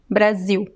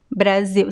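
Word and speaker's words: Brasil: pronounced as an l is pronounced as a a weak oo sound brazil brazil same thing with the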